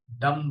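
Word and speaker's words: dumb: डम बोलते हैं। डम बी साइलेंट।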